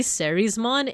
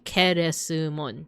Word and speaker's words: Kerismon: And yes, if you read the the Japanese katakana, it wouldn't be sismon, it would be kerisummon.